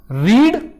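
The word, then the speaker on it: read: व को सेम लिखते-लिखते मगर जब उच्चारण होता है तो उच्चारण में इसे पढ़ते हैं रीड इसे पढ़ते हैं रेड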